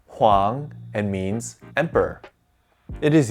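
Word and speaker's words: 皇: This character is pronounced huang and means emperor.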